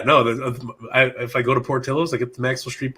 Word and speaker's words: Portillo's: Portillo's? Yeah, Portillos. Port, like Port of Maine, Port of Michigan.